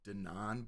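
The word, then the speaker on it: Denaun: Porter is the artist formerly called Con Artist from D12, and his actual name is Denon, but it's spelled like Denyin.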